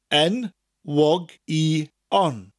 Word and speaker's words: enwogion: Gwlad bairdda chantorion, enwogion o fri.